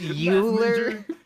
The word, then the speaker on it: Euler: It is It's pronounced Euler.